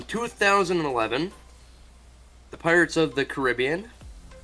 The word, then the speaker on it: Caribbean: the Pirates of the Caribbean that's how you're supposed to pronounce it people it's not Caribbean on Stranger Tides directed